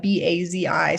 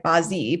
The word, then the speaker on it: Bazi: So the Chinese word for 4 pillars of destiny is Bazi, B-A-Z-I. So it looks like Bazi, but it's actually pronounced Bazi.